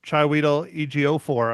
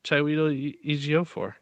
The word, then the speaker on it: Chiwetel Ejiofor: And then the guy that none of us can pronounce his name, Chiwetel Ejiofor, I believe. I don't know, whatever. Oh, I think you got it that time. Chiwetel Ejiofor.